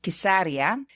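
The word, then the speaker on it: قيسارية: whatever you prefer so caesarea is pronounced in arabic as kisaria and in its most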